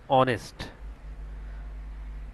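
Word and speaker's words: honest: same একরকম এখানে এইচ এর উচ্চারণ না আসে এখানে হবে আওয়ার এরপর হচ্ছে এখানে এচ এর উচ্চারণ না আসে এখানে হবে অনেস্ট তারপর হচ্ছে এখানে এচর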